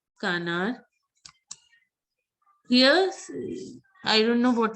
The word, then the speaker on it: canard: Canard, most of you were pronouncing it right. Canard.